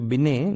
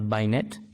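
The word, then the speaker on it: Binet: formula है ड्यू टू बिने this is pronounced as बिने नॉट बायनेट बिने बिने इज फार्मूला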